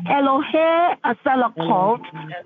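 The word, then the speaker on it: Elohay Selichot: The name of the Lord you're going to use is Eloheselokult. Eloheselokult. It is spelled E L O H A Y S-E-L-I-C-H-O-T. Hallelujah. So you're going to say Elohe Asalakot, the God who is ready to forgive.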